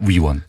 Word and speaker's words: 위원: 의원이 아니고요. 위원입니다. 위원.